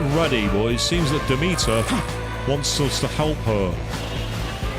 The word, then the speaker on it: Demeter: I said Demeter. It was only when I played for Horizon Forbidden West that I realised it was actually Demeter is the way you pronounce it.